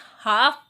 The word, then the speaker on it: half: पढ़ा जाना चाहिए था, लेकिन हल्फ इसे नहीं पढ़ते, हम इसे हाफ पढ़ते हैं, आधा।